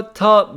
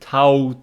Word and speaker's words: taught: this easy my grandpa taught me so if you always pronounce it Tau me then in listening you don't understand what it say my grandpa taught me